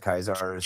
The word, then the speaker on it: Khazars: How do you pronounce it? Khazars.